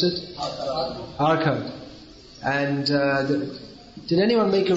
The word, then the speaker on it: Arcot: How do you pronounce it? Arcot.